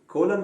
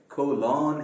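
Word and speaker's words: colon: और इसका प्रोनाउंसिएशन भी ध्यान में रखें, कई सारे अंग्रेजी बोलने वाले हजरात तक इसको कोलन कहते हैं, ये कोलन नहीं है, कोलन है ये।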